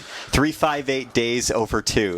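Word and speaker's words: 358/2 Days: it was the 358 358 days over two that's how you actually say that again uh yeah that's actually how you say it even though it looks nothing like that that is the official way to say that game title interesting trying to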